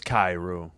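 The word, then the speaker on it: Kyrou: How do you say, Kairu? Jordan... It is Kairu.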